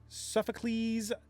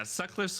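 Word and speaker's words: Sutcliffe: a fun little you you did in fact say it wrong. Yeah. Suck sucked hives. Yeah. Yeah. Suckliffe hides.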